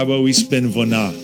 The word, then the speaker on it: Vona: Why don't we, since we're talking about the Ukrainian factor, how about we spin Vona? Sounds good. How do you say it? Vona.